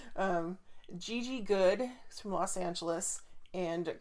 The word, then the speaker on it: Gigi: of an exotic name just like a multi- syllable name and not like gigg good it's Gigi hey hey no I don't know I don't